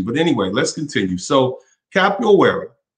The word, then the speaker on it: Capoeira: anyway let's continue so capital where is a portuguese pronunciation is an african martial